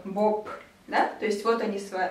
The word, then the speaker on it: Боб: ну и какой-нибудь Боб, да, соответственно, Б, Б, но он произносится как П, Боб, да, то есть вот они у нас с вами глухие и звонкие.